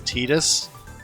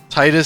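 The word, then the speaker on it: Tidus: Kingdom Hearts basically canonically made the confirmed the pronunciation of his name as tetus Titus sounds so much better I think the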